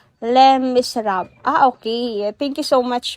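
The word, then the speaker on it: Les Misérables: Ang Les Miserables, pronounced as Les Miserables.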